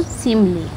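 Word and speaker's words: simile: अगर इसको प्रोनाउंस करेंगे तो सिमली।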